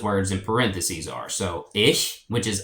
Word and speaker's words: ich: So the pronouns for I is ich, and the ch has kind of a hissing sound a little bit, kind of like a cat, like a sh. So ich.